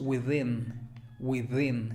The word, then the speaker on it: within: Y al final tenemos within. Sonido TH vibrante. Within. Con el acento en la segunda I. Within.